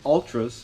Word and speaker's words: Altra: Sold a pair of Ultras, and I actually looked it up. That's how you pronounce it, Ultra.